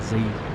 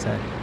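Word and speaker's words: ZiS: and correct me and tell me it's a z 57 but you're just wrong it's pronounced set anyways um now that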